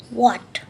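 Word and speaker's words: what: तो WH के बाद अगर ए ई आई आता है तो H होगा साइलेंट। तो स्टार्ट करते हैं। तो H के बारे में नहीं पढ़ेंगे, इन तीनों की साउंड बोलनी है, व अ ट, वॉट। क्या बोलेंगे? वॉट। H की साउंड तो नहीं, हार्ट तो नहीं, वॉट तो नहीं, वो वॉट नहीं, वॉट।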